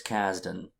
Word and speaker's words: Kasdan: they do yeah so the uh director lawrence kasdan is that how you say it yes there's